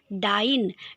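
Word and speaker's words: dyin': इट इज़ for this reason that the poet has used डाइन, DYIN। इसमें जी को हटा दिया गया है, so that it rhymes with lion, so that when we pronounce it, it rhymes with lion.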